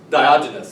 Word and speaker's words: Diogenes: Diogenes, that's how you say his name.